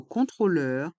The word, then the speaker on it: contrôleur: un contrôleur un contrôle dans le mot contrôleur il y a deux sons le son on avec les lettres o et n con contrôleur et le son e avec les voyelles e et U leur contrôleur un contrôleur un contrôle